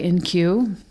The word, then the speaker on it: IN-Q: poems and stories by NQ if you're wondering how his name is spelled it's i-n-q sure for in question